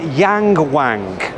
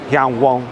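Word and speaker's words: Yangwang: is another new brand I'm reading it as Yang Wang and any car brand with the name Wang in the title gets my vote I think it's actually pronounced Yan Wang anyhow they're actually owned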